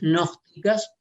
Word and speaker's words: gnósticas: Escribe gnósticas con G, pero esa G casi no se pronuncia. Las corrientes gnósticas, sobre quien representó históricamente más acabadamente la corriente gnóstica, que fue Marción.